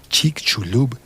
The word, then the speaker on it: Chicxulub: Hagamos una breve pausa y volvemos a hablar de Chicxulub y del turismo científico. Chicxulub. Y al fin voy a explicar cómo se escribe. C-H-I-C. Chic. X-U-L-U-B. Chulub. Chicxulub y su población, que